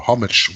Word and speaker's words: homage: Kneel in Homage, or homage. What is that? How do you say that in English? That's homage. Yep, that's right.